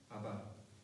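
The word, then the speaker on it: Abba: 아바. 네. 근데 굉장히 비슷하죠. 아빠, 아바. 굉장히 발음이 비슷합니다. 정확하게 발음하면 아바가 되는데, 우리나라 아빠하고도 굉장히 비슷하죠. 발음이.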